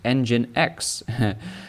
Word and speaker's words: nginx: of nginx which is engine x like an engine in a car and that's where they